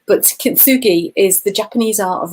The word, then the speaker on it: kintsugi: that there's a real awareness around something called kintsugi. I think I pronounced that correctly, but somebody who's Japanese might completely correct me and say I've said it wrong. But kintsugi is the Japanese art of repairing cracked pottery